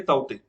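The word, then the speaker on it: Tauktae: Okay, तो उसको ताउते भी बोलते हैं, उसको इंग्लिश में ताउते करके भी लिखते हैं, तो ये इसकी प्रोनाउंसिएशन है ताउते।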